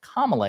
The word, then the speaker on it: Kamala: But the reason that we know that Nancy Mace is being a bigot is because she has been told, like, hey, it's pronounced Kamala Harris.